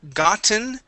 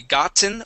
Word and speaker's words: gotten: um all right now with the word gotten um because we end with an e n Sound we can only pronounce it with the T or swallowing yeah it's not a d so it's either going to be gotten or gotten gotten just like that okay um let's